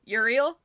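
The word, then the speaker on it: Euryale: Which I know how to say that one because Percy is very helpful and says that it rhymes with Muriel. So, Uriel, thank you for that.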